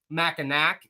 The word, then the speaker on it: Mackinac: But I can always spot the newcomers because they go, we're here on Mackinac Island because it's spelled Mackinac, even though you pronounce it Mackinac.